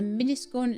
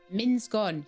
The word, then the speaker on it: Minsgon: And there's a miniscorn stand. Minskon, sorry.